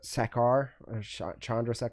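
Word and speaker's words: Chandrasekhar: But the director though, Chandra Sakar, I think that's how you Sakar is how you say his last name. I believe so.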